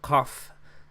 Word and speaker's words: qaf: And it makes a, so it doesn't make a k sound like a k. It's more of a deep in the back of your throat kind of ka, ka, ka. So qaf, daqiqa, ka, ka, ka.